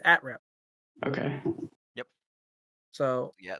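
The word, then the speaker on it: @-rep: Is that pronounced atrep or is it a rep the autonomous one? It is atrep.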